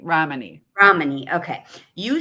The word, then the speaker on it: Ramani: You said It's that you, Romney. Romney. Ramani.